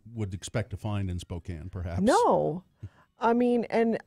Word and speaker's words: Spokane: I went up to Spokane for my niece's graduation she's gonna keep mispronouncing it Spokane look at the way it's spelled bein Mary Claire made